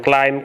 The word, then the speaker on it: climb: so for example then climb come bomb and check out so usually the general rule is to drop the b or silent b so for example in